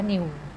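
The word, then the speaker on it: ν: ดู ยาก นิด นึง เรียก ว่า New อ่าน ว่า นิว ไอ้ ตัว นี้ มิว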